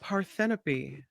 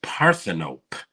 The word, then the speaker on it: Parthenope: these movies yeah this next one is called paropy actually it's oh God actually it's pronounced parthenope really parthan op now I believe Michael Snider might have reviewed